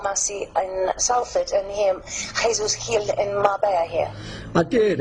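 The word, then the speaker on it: Jesús Gil: The thing is, there's a significant parallel between Jesus Gil, they say in Spain, Paul, but we pronounce it as Jesus Gil. That's how it reads.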